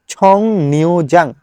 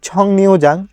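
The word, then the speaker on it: 정류장: হবে ছ, আর আমাদের ইয়ং বাচ্চিমের পরে যদি রিউল থাকে তাহলে এই রিউলটা হয়ে যাবে নিয়ন, অর্থাৎ ছং রিউ না হয়ে গেছে ছং নিউ। তাহলে ছং নিউ যাং বাস স্টপেজ।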